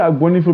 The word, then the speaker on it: Agbonifo: We say Agbonifo because it's easier for people to pronounce.